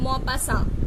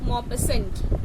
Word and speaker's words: Maupassant: की लिखी हुई है MAUPASSANT, लेकिन इस नाम में T जो है वो साइलेंट होता है. ठीक है, सो इट इज Guy de Maupassant. Okay, it इज नॉट Maupassant, इट इज Maupassant.